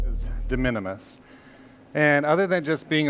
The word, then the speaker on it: de minimis: in Utah, and so instead of saying de minimis, we say de minimus, and so I always spell it wrong.